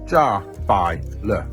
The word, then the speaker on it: Jiabaile: This is pronounced Jer. That's it. Simple. Thanks, Steven. You're the best. Check out his channel. He's a good kid. So, Jaw has now created a 10th scale series of cars.